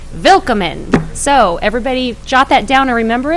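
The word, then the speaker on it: Willkommen: do Dave so and it's spelled with a W it's spelled WI ll ko mm en but forget the W it's a v its vill comin so everybody jot that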